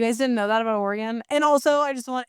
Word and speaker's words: Oregon: Coast to know that if you call it Oregon, you're fucking crazy. That's how you say it. Oregon? Yeah, or the place of the oregano. Oregano? A lot of people say it that way. Yeah, you were freakishly close.